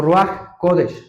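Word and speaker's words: רוח הקודש: si lo han escuchado se pronuncia como raj kodes el raja kodes no sé si han escuchado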